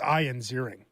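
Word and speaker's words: Ian Ziering: I don't think anyone has ever I don't think I've ever had an interview where someone's pronounced my name Ian so many times so wrong. Yeah, it's Ian Zering.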